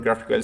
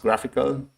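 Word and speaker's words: GraphiQL: called graphical graph iql I think it's pronounced graphical for for fun yeah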